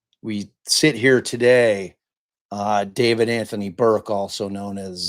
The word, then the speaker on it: D4vd: Like, if if Cam hadn't told me that that that guy's name was pronounced David with the four there, I would have been like, "What? D4 VD?"